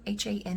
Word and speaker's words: Hanne: we're following Nina and I think it's pronounced h a n NE e han han um and we're following